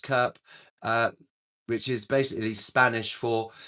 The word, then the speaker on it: CURP: To keep their phone working, Mexican phone users had to register it using their CURP, pronounced CURP, which is basically Spanish for Unique Population Registry Code.